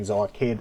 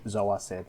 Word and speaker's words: Zoacid: I had to look up how to pronounce Zoacid because I kept saying Zoakid, Zoacid, so I'm just going to say Zoacid from now on and try to get used to that.